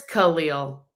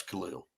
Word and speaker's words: Khalil: Yeah, that would probably So it is Khalil. Yeah, it's Khalil.